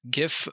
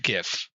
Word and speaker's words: GIF: The graphics interchange format should be pronounced gif or jif, but gif. But not guif.